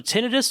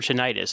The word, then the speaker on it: tinnitus: to yeah so so tinnitus or tinnitus because I've I've never no pun intended I've never heard that out loud before I've only read it so how do you pronounce both both are are accurate probably one is a British pronunciation but we we use both interchangeably tomato tomato situation okay yeah because yeah